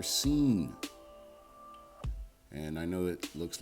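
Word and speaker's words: שׂין: The next letter is the letter scene. And I know it looks like sin, but it's not sin. It's pronounced scene and it makes the s sound as in summer and it gets the transliteration of s as well.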